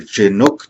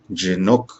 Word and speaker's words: Jhinuk: college of business and my name is dr chinook once again that's jinok i recognize that for some of you